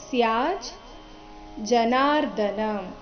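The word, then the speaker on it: ಸ್ಯಾಜ್ಜನಾರ್ದನ: ಚರಣದ ಕೊನೆಯ ಶಬ್ದ ನೋಡಿ ಅದನ್ನ ಬಿಡಿಸಿ ಹೇಳಿದಾಗ ಅದು ಸ್ಯಾಜ್ ಜನಾರ್ಧನ ಸ್ಯಾ ಆದ ನಂತರ ಅರ್ಧ ಜಕಾರ ಇದೆ ಸ್ಯಾಜ್ ಜನಾರ್ಧನ ಈಗ ಒಟ್ಟಿಗೆ ಹೇಳಿದಾಗ ಹೇಗೆ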